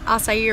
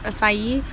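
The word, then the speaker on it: açaí: wrong about how I always get the strawberry asai refresher and it's pronounced asai but recently a bunch of workers have been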